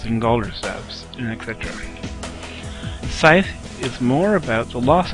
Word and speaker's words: Seidhr: Old Norse pronunciation, and the EI diphthong would be pronounced like an A, so therefore we have Seidhr and Galdr. In the ancient North we have two different kinds of magic, Galdr and Seidhr.